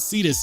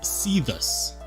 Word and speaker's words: Cetus: been saying it wrong he says it's not cetus it's see this see this pronunciation it's important I think sometimes known as